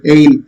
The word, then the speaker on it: aisle: In a church, you walk through the passage, narrow passage called aisle. It's not aisle. Just like island, which is S is silent.